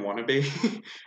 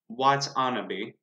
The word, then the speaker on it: Watanabe: I read that as Ken Wannabe at first. I believe it's Ken Watanabe. As Detective Hito Yoshida, and then plenty of just other ones.